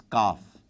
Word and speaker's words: Qaf: There is this special sound coming from inside the throat for Qaf, which is not exactly what is needed in this case. Kaf. You really are relaxed when you're reciting, so when you're pronouncing Kaf, but not quite as much when you're doing Qaf.